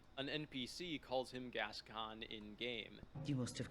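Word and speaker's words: Gascoigne: full of people correcting the way that I pronounce gascan and they're all wrong an NPC calls him gascan in game must have killed gason as well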